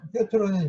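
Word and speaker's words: Пётр: 그러다가 19세기에 이제 뾰트르는 이제 베드로란 뜻이에요. 피터를 이제 러시아로 발음하면 이제 뾰트르가 되는데, 이 뾰트르 대제가 자기가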